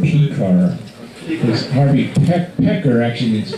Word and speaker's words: Pekar: In English you say his name Pekar.